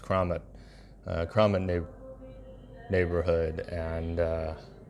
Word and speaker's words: Keramat: or in the CaroMont or the kramat it's pronounced kramat Crom in the neighborhood